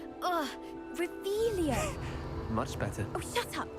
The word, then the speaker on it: Revelio: You're Rebellious. saying it wrong. Ugh, Revelio.